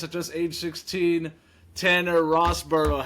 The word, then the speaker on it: Rosborough: just age 16 Tanner Rosboro how you doing man good bro good how are you I'm chilling how's the pronunciation is it Rosboro is that good yeah that's actually perfect bro come on come